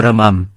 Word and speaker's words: วรมัม: 2446 คำภาษาอังกฤษ ก็เขียนคำว่า วรมัน ตั้งแต่บัดนั้นเป็นต้นมา ผมศึกษาการใช้ว่า "วรมัน" แทนคำว่า "วรมัม" ที่ใช้มาแต่เดิม สงสัยเหมือนกันว่า ทำไมไม่อ่านตามจารึก เพราะจารึก เขียน "วรมัม" ทั้งหมด บัดนี้ก็ได้คำตอบแล้ว ผมจะอ่านว่า วรมัม ส่วนใครจะอ่านว่า วรมัน ก็เชิญตามสบายครับ ก่อนจบคลิป ผมจะนำบทกลอนแต่งในวันนี้มาให้ฟัง มีดังนี้ครับ ThaiEsan6 ประพันธ์ 8 ก.ค.